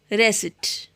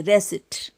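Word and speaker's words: receipt: Psychology, psychic, न्यूमोटिक, pneumonia, रेसिट। इसको रिसिप्ट नहीं बोलेंगे, रेसिट।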